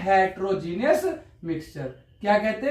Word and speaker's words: heterogeneous: हेटेरोजीनियस mixture. ठीक है? Genius से याद रखो हेटेरनियस। तो याद हो जाएगा वैसे प्रोनाउंस कैसे करते हैं? हेटेरोजीनियस है ना?